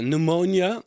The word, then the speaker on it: pneumonia: for mentioning that uh pneumonia um is uh something that you don't pronounce the p in it so that's English it's